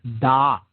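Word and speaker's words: Daat: positioned in what is called the realm of dot dot okay d-a-a-t or d-a-a-t-h okay depending on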